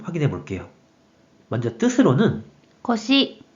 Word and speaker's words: 腰: 이번에는 허리요에 대한 일본어 발음 확인해 볼게요. 먼저 뜻으로는 腰、腰、 한편 음으로는 よう、よ 라고 각각 발음해줘요.